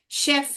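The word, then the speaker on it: chef: शेफ right pronunciation क्या है? शेफ है। यहां पे लिखोगे तो वो चेफ बांटने में आएगा। जो कि आमतौर से लोग उसको चेफ ही बोलते हैं। मगर उसको चेफ नहीं प्रोनाउंस करना चाहिए।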